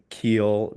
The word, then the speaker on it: Kiel: Clint Hansen online with us today from Kiel, Germany. Am I pronouncing that correctly? Is it It's Kiel? very easy to pronounce, yes.